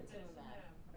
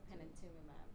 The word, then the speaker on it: panitumumab: Panitumumab. There we go. Panitumumab. No, but you forgot the other M though. You forgot the first M.